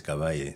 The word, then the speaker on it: Kabagi: People call me Kabagi. But when I'm in Zambia, it's Kavay. So the G is silent.